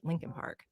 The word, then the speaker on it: Leakin Park: a word here about Lincoln Park it's actually spelled lein Park l e a k i n but almost everyone in Baltimore pronounces it Lincoln Park it's huge over a